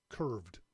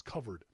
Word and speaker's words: KUVRD: comm kuv rd covered i kept saying it wrong on last week's show i kept calling it sorry curved it's covered these great little universal